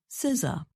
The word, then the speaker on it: SZA: Babel notes her name is pronounced Siza.